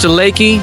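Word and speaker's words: Leakey: Pronounced Lakey, spelled Leaky.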